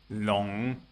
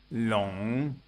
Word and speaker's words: 龙: 龙 Long. 卧 Wo. 落 Luo. Listen for the effect of the semivowel written W or U. 龙 Long.